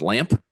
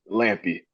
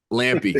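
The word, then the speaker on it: Lampe: Is it Brock Lamp? Lampy. Lampy. Okay. It's a long e at the end.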